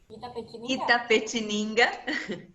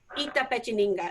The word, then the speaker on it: Itapetininga: They may need to know where in the world is and how you pronounce it. Say it for me, Paula. Itapetininga. Itapetininga. You might. Great. Itapetininga.